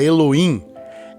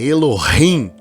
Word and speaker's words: Elohim: Vou usar muito essa palavra Elohim, não diga Elohim, é Elohim, né, Pastor Mário? É assim que se pronuncia.